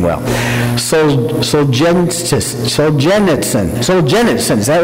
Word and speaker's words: Solzhenitsyn: for me, and I'm still not going to pronounce his name well. Solzhenitsyn, is that right?